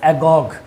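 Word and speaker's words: agoge: Of education it इज़ एगोग यानी प्रसिद्ध शिक्षा प्रणाली स्पार्टन पीरियड में कौन सी थी भैया एगोग थी एगोग एगोग है भी कह हिंदी में प्रोनाउंसिएशन थोड़े अलग होते हैं ग्रीक वर्ड के।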